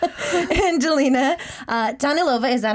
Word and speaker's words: Danilova: tall Angelina uh Dan Lova. Is that how I pronounce your last name? Yeah, it's it's Danilova or Danilova, which is like how I pronounce it in Russian.